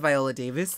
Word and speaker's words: Viola Davis: But speaking of Viola Davis, that's how you say her name.